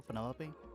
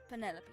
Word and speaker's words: Penelope: delightful Penny pointer pleasure is that short for Penelope officially yes but I never can be bothered with all four syllables of it Penelope sounds a little ostentatious